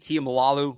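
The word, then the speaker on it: Tuimoloau: the first round um is it TI malalo JT T malalo is how you pronounce that from Ohio State Jack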